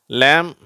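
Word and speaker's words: lamb: Dwayne to சரி அடுத்தது எம் பி இந்த இரண்டு எழுத்துக்கள் சேரும் பொழுது இந்த பி சைலெண்ட் ஆயிடுது சரியா இதை வந்து எப்படி படிக்கணும் ம்னு படிக்கக்கூடாது ம் அப்படின்னு படிக்கணும் ம் அவ்வளவுதான் ம் பியும் சேர்ந்து வந்தா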